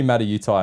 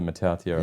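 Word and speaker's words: Mata'utia: say it that's it they used to be mad at Utah and then they changed it to matatio yeah sioni yep Club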